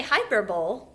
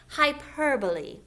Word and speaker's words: hyperbole: When you read the word, I do hear some children say hyperbole. That's not exactly how you say it. Hyperbole.